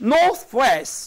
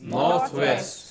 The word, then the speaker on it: northwest: Now, two element words, compound words, but equally both are stressed. But there is a pitch change, as you said. Pitch change on the second.